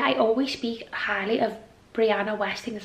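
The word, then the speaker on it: Brianna Wiest: I always speak highly of Brianna Westing, that's how you say her name.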